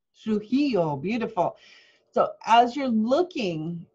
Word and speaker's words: Trujillo: Trujillo, beautiful.